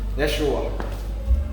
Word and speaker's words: Yeshua: Yeshua. Okay? So, ganun ang tamang pronunciation dyan.